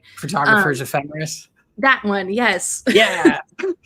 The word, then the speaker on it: Ephemeris: Also use this app called Photo Empiricist. Empiricist? I can never say it right. Photographers Um, Ephemeris.